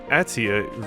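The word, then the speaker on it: Aetia: The Atia region. I've been calling it like Asia this whole time. It's always simpler than you think, these pronunciations.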